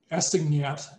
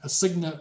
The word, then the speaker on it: assignat: And I would pronounce it assignat, but of course the French don't pronounce the final consonant, so it's an assignat or something like that.